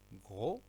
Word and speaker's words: gros: Gros, on ne prononce pas S.